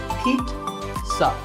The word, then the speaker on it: pizza: It's not a pizza, and it's not a pizza. There's no z sound in this word. It's pizza. Pizza.